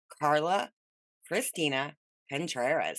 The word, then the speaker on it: Carla Christina Contreras: We are sitting down with the very, very lovely Carla Christina Contreras. How you doing? I'm great. Thank you. You pronounced my name beautifully.